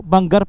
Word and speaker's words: Bangar: nagad lang sila ah Bangar Ayun Sorry po Bangar pala yung pronounce niya sabi ni Chief Grabe tipid na CR